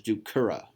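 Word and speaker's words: ducere: So dokeri versus ducera, not a long E.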